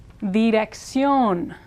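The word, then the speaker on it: dirección: word with an R theion theion which means address VC again accent mark is here so it's stressed on the last syllable now it looks like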